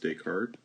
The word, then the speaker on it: Descartes: created by a famous mathematician named Rene Descartes pronounced Descartes and its Cartesian plane I'll take that car